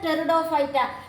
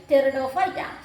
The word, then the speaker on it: Pteridophyta: This P is a silent only. Your pronunciation Pteridophyta. T is writing pronunciation only Pteridophyta.